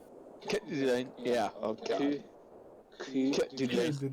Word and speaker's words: Coeur d'Alene: she was very adamant that you had to pronounce it Coeur d'Alene. Coeur d'Alene.